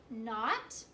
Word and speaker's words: knot: don't and nice okay all of these words start with the MM sound but it's spelled with a k in okay not knit